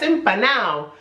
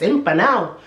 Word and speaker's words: empanado: say to you, estás empanado, and you see I didn't pronounce the D because that is the way the people around my area in Spain talk. Es que estás empanado.